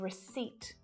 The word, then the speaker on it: receipt: We've got psychologist, coup, and receipt. We don't hear that P at all, absolutely not, at the start, in the middle, or at the end of a word.